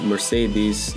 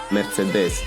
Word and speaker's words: Mercedes: Now, about Porsche naming system is not like Mercedes tossing out AMG like confetti. By the way, Mercedes, not Mercedes or BMW.